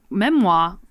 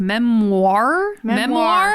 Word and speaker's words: memoir: the other day that apparently I say memoir weird. Memoir. He was like, he's like, you don't say it like that. And I was like, what? And I was like, memoir. And he's like, it's memoir.